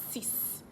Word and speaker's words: six: si si si si so you're not saying six you've seen sees sees number seven sit sit